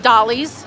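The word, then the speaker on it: Dolle's: Now, it looks like it's Dole, but it is pronounced Dolly's. I've checked the website, and we've always called it Dolly's.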